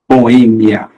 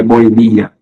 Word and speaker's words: boêmia: mais caem no sear lá Boêmia não é Boemia barbárie não é barbaria